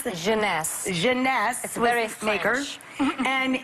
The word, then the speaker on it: Jeunesse: called instantly 8 ageless what's the company honey pronounce the Jeunesse Jeunesse sweareth Lakers and it's less than $75 retail